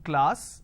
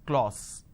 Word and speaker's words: class: a vowel sound r another example the word is class and the pronunciation is this is how the pronunciation is but people make a mistake they say or sir instead of saying class they end up pronouncing this as claus okay now why does